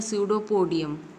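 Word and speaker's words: pseudopodium: क्या बोलेंगे सूडो पूर्णिया यह पीस जो है वह साइलेंट है और सिंह भुल्लर को बोलते हैं सूडो पोडियम इसका मतलब होता है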